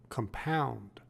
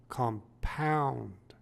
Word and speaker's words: compound: b1 b2 and b5 as an adjective compound is pronounced with the emphasis on the first syllable compound compound compound it is used